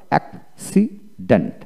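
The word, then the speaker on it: accident: তার মানে সাকসিড, তারপরে অ্যাক্সিডেন্ট এইভাবে উচ্চারণ করতে হবে অ্যাক্সিডেন্ট।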